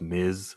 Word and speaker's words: Ms: of all miss marvel ms period is pronounced miz at like like the wrestler miz not miss yeah and then i